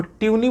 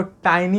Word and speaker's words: tiny: खरीदते हैं, ट्यूनी बल्ब, वो ट्यूनी बल्ब नहीं होता, वो टाइनी होता है, एक्चुअली उसका स्पेलिंग TINY होता है।